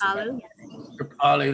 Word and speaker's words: Kripalu: Many teachers at many places like Kripalu, is that how it's pronounced? I know it's quite a well-known place. Kripalu, that's it.